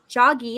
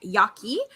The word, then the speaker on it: Jaeggi: and I must apologize I've pronounced Michelle's last name it's Yaki so Michelle Yaki out